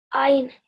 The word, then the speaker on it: ع: Ain.